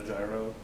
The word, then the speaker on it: gyro: climbing the wall he's going to get a gyro so it's technically pronounced gyro but he's still gonna kalytero this